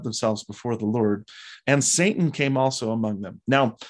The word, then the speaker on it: Satan: before the lord and satan came also among them now a lot of scholars will point out that the word use here satan or as it would have been pronounced in hebrew satan may or may